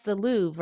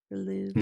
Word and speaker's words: Louvre: Here's that's the Louvre, right?